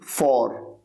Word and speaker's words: fore: Next word FORE, फॉर। फॉर मतलब होता है सामने। स्पेलिंग इसकी थोड़ा सा अलग है, वैसे इसको बोलने का तरीका बिल्कुल वही है जो FOR को बोला जाता है, फॉर।